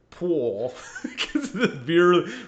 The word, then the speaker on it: Paul: idiot with you so paul which is i pronounce it pool really stretch out that middle syllable that pool he's like hey